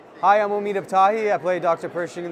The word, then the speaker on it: Omid Abtahi: Pen Persing Omid Abahi. Yeah, you nailed the pronunciation. Yeah. Oh, thank you so much. Yeah, of course. It was fun. Hi, I'm Omid Abahi.